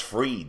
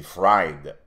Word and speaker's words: Fried: Sam bankman il eux ils prononce Free mais c'est fride fried tu peux le prononcer